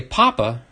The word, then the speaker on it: papa: big daddy but um in spanish papa doesn't mean father that's papa with the accent on the second a but if you just say papa you're actually saying potato so they're calling him